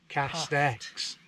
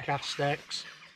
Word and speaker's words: K4STX: K4STX, but it's sort of pronounced Cast X. Yeah. Cast X.